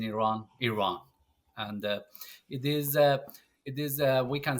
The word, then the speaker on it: Iran: Yeah, I'm originally from Iran, or some people call it Iran here, but we pronounce it in Iran.